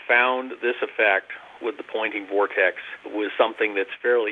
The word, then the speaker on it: Poynting: almost a pun because the fellow who invented it was named pointing spelled with a y uh he was an